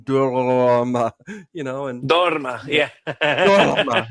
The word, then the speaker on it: dorma: I sang in Italian, and I had a literal Italian opera singer tell me, "Okay, but you have to roll your R's. It's not nessun dorma, it's nessun dorma."